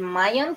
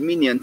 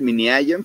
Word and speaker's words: MinION: Sí, el Bento Lab y el Mayon, ¿cómo tú lo pronuncias? Yo le digo el Minion, sí, es el Mini Ion, porque pues los de Oxford así le decían, pero pues es el Minion, pues sí.